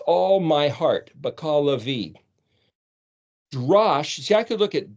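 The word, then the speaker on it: דרש: which is the word DRSH, which would be pronounced Drash or Darasha.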